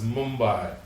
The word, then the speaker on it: Mumbai: We am also apologize for mentioning as a Bombay, it's Mumbai. So thank for your suggestion to make sure that we will pronounce as Mumbai.